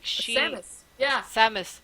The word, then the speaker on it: Samus: like she is yeah Samus it's not Sheamus it's Sabbath Jesus uh